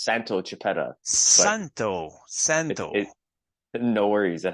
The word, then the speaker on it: Santo Chiappetta: a personal trainer welcome Salvo chiapeta hey how's it going Andrea it's uh so to pronounce my name properly it's Santo chipetta Santo Santo no worries